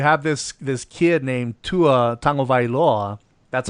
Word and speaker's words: Tua Tagovailoa: You know, but however, however, you have this this kid named Tua Tagovailoa. That's how you pronounce his name.